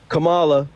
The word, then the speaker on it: Kamala: great no no no there's the thing Kamala that's how you say her name I'm sorry I don't